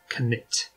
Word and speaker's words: Knytt: a swedish word today which is apparently supposed to be pronounced knit but i've been repotting